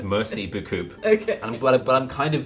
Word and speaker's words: merci beaucoup: Obviously, I know that's not how it's pronounced. It's called merci beaucoup. But it's not mercy. No, it is. It's merci beaucoup.